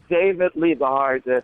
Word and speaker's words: David Liebe Hart: David Liebe Hart. Liebe you know, Hart. Love Hart Liebe in Hart. German.